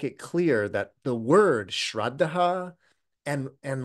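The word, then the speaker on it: śraddhā: So the word confidence is this word shreddah and that's the Sanskrit pronunciation.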